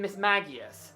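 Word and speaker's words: Mismagius: Plus, in the anime, it's always been Miss Magius.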